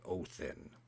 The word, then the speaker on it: Odin: If you actually want to know the real pronunciation of that name, the modern pronunciation, of course, Odin is it was actually Othin.